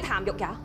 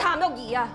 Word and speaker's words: Tam Yuk-yee: That's not my name. They call me Tam Yuk-ya. My name is Tam Yuk-yee.